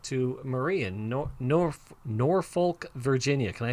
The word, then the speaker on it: Norfolk: going to talk to marie in nor nor norfolk virginia can i say that right it's like